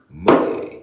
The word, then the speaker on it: Moge: Moge.